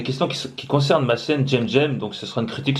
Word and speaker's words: Cem: Et Jem en fait ça s'écrit CEM. Voilà, ça se dit... Enfin, les gens, tu vois, les gens qui me connaissent pas, tu sais, ils disent Sem, tu vois.